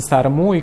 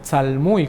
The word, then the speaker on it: tzalmuy: Que en lengua maya muchos le dicen sarmuy cuando en realidad debería ser tzalmuy con L.